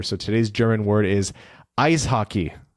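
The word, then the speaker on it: Eishockey: today's German word is ice hockey pronounced just like it just like in English ice hockey but E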